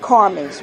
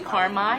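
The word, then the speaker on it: Carmai: so in this restaurant carmen's right is that how you say it it's actually karmai it's a mixture of carlene and michael my husband okay so karma you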